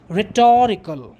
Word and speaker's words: rhetorical: form of rhetoric is rhetorical the o gets an accent or stress just as you say historical history historical rhetoric rhetorical